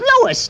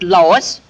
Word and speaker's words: Louis: Me name is Louis, not Lois. Chief Whiz, everybody interpolates me name wrong. It's Louis. L-O-U-I-S.